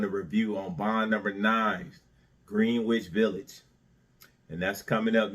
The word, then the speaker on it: Greenwich: the aficionados out there, I know it's pronounced Greenwich Village, okay? All right? But if you look at the letters and read it, it says Greenwich.